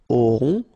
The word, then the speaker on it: auront: okay, then il auront, final T not pronounced, O and together, on, auront, okay, and then the link between the two, ils auront, elles auront.